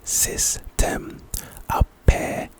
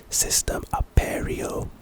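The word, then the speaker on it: Cistem Aperio: It's pronounced System Aperio. System Aperio.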